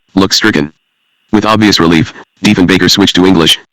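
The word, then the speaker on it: Diefenbaker: Everyone, that is, but Deven Baker. Then Kennedy mispronounced Deven Baker's name. The baker was as in a baker of bread. Kennedy referred to Prime Minister Deanbacher.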